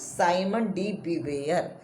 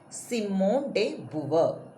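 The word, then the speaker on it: Simone de Beauvoir: she was a french because french pronunciation see how we will pronounce simon d b r that is the wrong pronunciation simone de buber the feminist historiography emphasized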